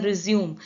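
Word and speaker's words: résumé: ठीक है, जैसे रेज्यूमे में होता है। ठीक है, रेज्यूमे में होता है ना, एक होता है रिज्यूम, दोनों की स्पेलिंग सेम होती है, RESUME। रिज्यूम का मतलब होता है कंटिन्यू करना, जारी करना। ठीक है, जारी रखना। लेकिन जो बायोडेटा वाला होता है उसे हम कहते हैं रेज्यूमे, क्योंकि हम उसमें ये सिंबल लगा होता है।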